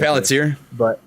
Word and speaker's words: Palantir: I'm a big, I might be mispronouncing the first A in there. Palantir. No, you got it, Palantir.